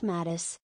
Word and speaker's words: Mattis: It's pronounced Mattis. It's pronounced like Mattis with a soft I sound.